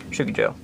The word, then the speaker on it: Shukijo: It's shoe, as in what you wear, key, as in what you use to lock a door, and Joe, like the name or coffee, but said in one word, Shukijo.